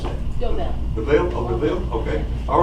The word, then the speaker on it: DeVille: And the first call we have is DeVille, or How do I pronounce that? DeVille.